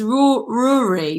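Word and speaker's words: Ruaraidh: It's Rory, but it's spelled like Ruiuruar. Rory.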